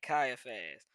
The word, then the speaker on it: Caiaphas: Let's see how you pronounce this word. They be having some names in here, bruh. They be having some names. Hey, I said it right.